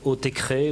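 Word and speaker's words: Autechre: euh électronique et high-tech c'est le nouveau clip de oticre où on dit aussi hutecré ou hutecux enfin il y a aucune prononciation officielle envisagée par le groupe c'est un duo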